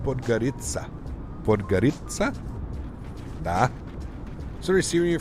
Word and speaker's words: Podgorica: It's pronounced Podgorica.